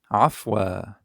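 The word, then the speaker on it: عفوا: wa(a)/n wa(a)/n ^af ^af ^afwa(a)/n ^afwa(a)/n The ^a sound at the beginning, is very common in Arabic, listen and repeat after the speaker, trying to match his pronunciation.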